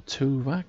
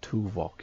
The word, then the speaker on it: Tuvok: bashir admiral jameway admiral tuvac tom paris and um harry kim i'm actually named pronounced tuvok isn't it i pronounce that wrong i do apologize to